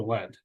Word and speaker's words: lead: the chemical symbol for lead is pronounced like led for some reason but it's spelled l-e-a-d it also stands for